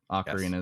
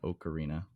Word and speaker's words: Ocarina: ocarina yeah arena yeah ocarina is how you're supposed to say the ocarina not an oak arena but yeah yes and